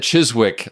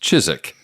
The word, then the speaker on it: Chiswick: is in, I said Chiswick, I think, in the original review. Yes. And he said it's pronounced Chiswick. The W is silent, like the P in bath, or a fart in a blizzard.